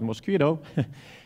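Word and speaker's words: Mosquitto: Pi which is running most Kira can pronounce it mosquito mqtt broker it has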